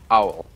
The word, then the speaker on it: Owl: he's really fearsome and very clever this is Owl did I pronounce that correct yes very good and he